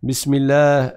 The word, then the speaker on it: bismillah: bismillah bismillah ou bien on dit pas bismillah prononcer la chatte d'un à chaque fois donc n'allez pas trop vite de sorte à manger les Chada et à ne pas les prononcer bismillah on passe au